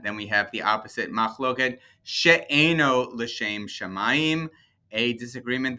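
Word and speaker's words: מחלוקת: So first word is Makhloket, or even though it says Makhloket, it's Makhloket, right? That's how we pronounce it, Makhloket, which means disagreement.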